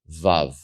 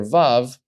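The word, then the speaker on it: ו: You have Aleph, Bet, Gimel, Dalet, Hey, and then you have vav, vav. Vav is pronounced like the letter V, like V in English. So simply V, Volkswagen, V.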